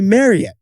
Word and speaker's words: Marriott: know the hotel chain Marriott there I know it well how do you actually say it Jack it's actually Marriott like Chariot Marriott is really Mariette